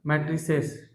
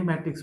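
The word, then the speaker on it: matrix: angular मैट्रिक्स क्या बोलेंगे मैट्रिस नहीं मैट्रिक्स बोलते है इसको ठीक मैट्रिक्स इतना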